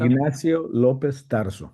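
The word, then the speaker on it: Ignacio López Tarso: Ignacio Lopez Tarso. Ignasio Lopez Tarso.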